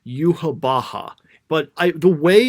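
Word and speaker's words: Yhwach: Like, they keep saying yuhabaha, and I'm looking at this, but this shouldn't this be pronounced like Yahawak or Yahawatch or something? Is it just too hard to pronounce? Because Yahawak like sounds like you're like, coughing up something.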